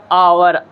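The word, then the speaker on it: hour: एन ये इसलिए लगेगा ये एच से तो होता है लेकिन हम इसका प्रोनंसिएशन जो करते हैं उच्चारण जिसको बोलते हैं बोलते हैं ओ होता है आवर आ से होता है किससे होता है आ से आवर आवर से टू आवर्स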